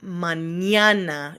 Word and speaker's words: mañana: Or if you see the N with the tilde, the little squiggle on top, it's Enye, Enye. Like mañana. You can see that N with the little squiggle on top is going to make a Ñ sound.